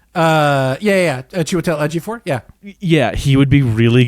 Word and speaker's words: Chiwetel Ejiofor: Chiwetel Ejiofor, is that how you pronounce his name? Chiwetel Ejiofor.